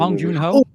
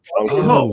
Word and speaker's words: Bong Joon-ho: Is it Bong Joon-ho? Is that how you say his name? I think it's his name. Bong Joon-ho. Bong Joon-ho.